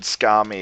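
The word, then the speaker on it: skami: There are exceptions to the rule, but basically it's the second to last syllable that's stressed. So when you say the word scami, it's scami, scami, or penda, which is a word for friend, or dunda, dunda.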